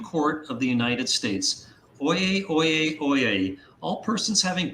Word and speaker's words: oyez: What does oyez mean? And it's spelled O-Y-E-Z. And you may recall in the middle of that, he says oyez, oyez, oyez, oyez, if I'm pronouncing it right.